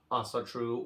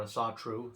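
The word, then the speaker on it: Ásatrú: today by neo-pagan groups who identify as Asatru or Asatru. Sometimes they put the emphasis on a different syllable.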